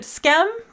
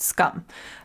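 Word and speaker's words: Skam: And I used to pronounce it Scam because that's how it's spelled, but I think from listening to it, I think it's pronounced Scum.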